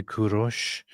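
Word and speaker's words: Kourosh: So, in Persian you say Kurosh, and Israel Jews say Koresh, and Greeks Koresh? say Kyros.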